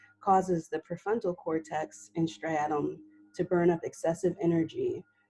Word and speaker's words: striatum: Striatum?